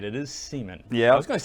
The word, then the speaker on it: Seaman: It is Seaman.